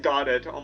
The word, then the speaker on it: Godot: I want to be like God. Oh my god. Godo. I mean that's the correct pronunciation.